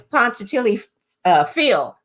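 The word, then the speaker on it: Punxsutawney Phil: And that's when I always get his name wrong. Ponce Chili Steve or Fred or it's Phil. It's Ponce Chili Phil.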